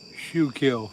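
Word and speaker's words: Schuylkill: You should know how to spell it. shoe kill. There you go. That's good enough. Got the right idea.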